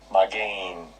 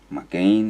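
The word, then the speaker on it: מָגֵן: we can get the sound here buckler the pronunciation strong's age 4043 my gain my gain so that's how you pronounce that my gain my gain that's how they pronounce it strong's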